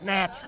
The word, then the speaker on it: gnat: It's a G. Silent. It's Nat.